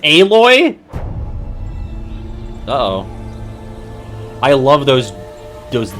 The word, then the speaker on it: Aloy: Adventures when it launches on November 14th and aoy has more good news news on the horizon it's pronounced aloy uh-oh I love those those disc giraffes aloy's